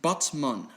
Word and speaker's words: Batman: under legal action by the city of Batman in Turkey, which is actually pronounced Batman.